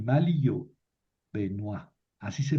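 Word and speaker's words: Benoît: Y aquí les pongo el esquema que hicieron Benoa Buamar y Malill yo, Benoisa, así se pronuncia. Estos franceses, escriben Benoit y pronuncian Benois. escriben boismart y pronuncian boamar.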